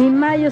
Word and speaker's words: Mallo: Y Mayo se escribe como gallo, LLO, Laboratorios Mayo.